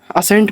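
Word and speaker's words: ascent: यानी एस के बाद अगर सी आता है तो वहां सी साइलेंट होता है।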